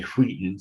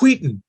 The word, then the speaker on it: Wheaton: David said I could pronounce it like Stewie and say Wheaton. So it's Wheaton.